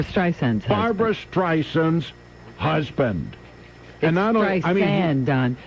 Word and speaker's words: Barbra: ronald reagan is played by james brolin that's barbara streisand's barbra streisand's husband another nice man he is right